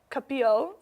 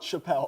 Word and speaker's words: Chappelle: So for 3 for 3, Dave Capil said, Quote? Chappelle. Chappelle. It's I just Chappelle. can't pronounce names.